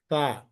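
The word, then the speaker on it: ث: It is in between th and s, in between these two letters.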